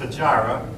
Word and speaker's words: Hijra: The flight from Mecca to Medina is called the Hijra. That word might be pronounced Hijra.